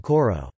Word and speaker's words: kor: For example, some words, such as kor meaning to hold, are now pronounced with a paragoge, as in koro.